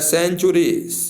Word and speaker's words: century: जैसे उसी तरह है सेंचुरी, CENTURY, सेंचुरी। तो सी के बाद ई आया है तो इसलिए 100 हो गया है, यानी सेंचुरी हो गया।